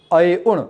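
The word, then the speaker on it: अइउण्: We pronounce it together. We don't pronounce it one by one. We don't say A, I, U, una. No. We say I un, una, because una is shorter. There is no O in it.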